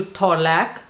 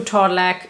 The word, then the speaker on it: Torlak: do not go to Thorlak, I think it's called Thorlak. You know what? Let me check. How do we pronounce Thorlak? Torlak. So, Torlak.